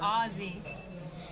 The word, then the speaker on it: Ozzy: Good fold by Aussie. You know Ozzy Osbourne, right? Just say it like that. Aussie Osborne? Ozzy.